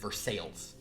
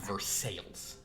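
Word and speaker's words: Versailles: Court of King Louie Summer Palace and they pronounce it versales spelled the same way thing I've ever heard it's pronounced versales and I find that dichotomy or as we'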